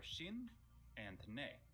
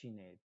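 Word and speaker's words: 死ね: According to a follower of mine named Zesty Time, these characters are Shin and Ne. No, it's just Shine. Which translate to die.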